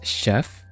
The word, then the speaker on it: chef: One word I really struggle with is chef, because it's written ch, like, you know, someone that cooks. But you pronounce it sh, that will never, ever really be, stop being tricky for me.